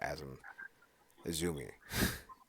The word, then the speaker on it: Azumi: I don't know who AZM is, or Azumi. It's Azumi. That's how you pronounce her name.